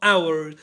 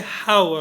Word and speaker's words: hour: separate hours and manners be careful with the pronunciation of our you cannot say how right so hours in